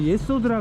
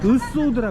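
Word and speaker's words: יסוד: 이게 정의를 나타내고, 일곱 번째로 예소드라 그러는데, 이건 완전히 잘못 발음했어요. 이거는 으소드라 그래야 돼요.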